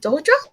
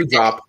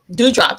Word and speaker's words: Doudrop: Dodra? Asuka? Her tag team partner. That's her name. Tag team Oh, partner. Doudrop. Doudrop.